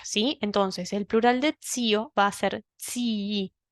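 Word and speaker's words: zii: I sola, que sería tsi, sino que agrega una I por una cuestión estética y sonora, ¿sí? Entonces, el plural de tsio va a ser tsi. Esas dos I se pronuncian, ¿sí?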